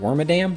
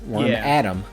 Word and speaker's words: Wormadam: Regardless of how you say its name, I've heard it Wormadam, which is what I personally use, and I've heard Worm Adom, which doesn't make sense to me because it's a female only Pokemon.